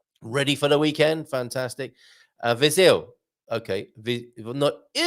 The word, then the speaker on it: Viseu: Viseu. Okay. Viseu. Okay, thank you very much for that pronunciation note there.